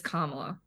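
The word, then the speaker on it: Kamala: intelligent to say her name her name is kamla Harris that's Point number one point number two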